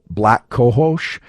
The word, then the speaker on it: black cohosh: moment, of something like black cohosh. I think that's the correct pronunciation. It's literally the word black and then COHOSH.